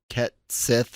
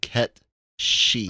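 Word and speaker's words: Cait Sith: I know they're gonna pronounce it like Ket Sith or something like that, but the actual Gaelic Celtic I believe is similar to Ket Shi.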